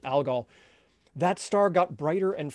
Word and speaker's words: Algol: demon the demon star in arabic that would be al ghul now we now we pronounce it algol that star got brighter